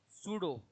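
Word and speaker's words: pseudo: सूडो पी इसका पी होता है। साइलेंट होता है।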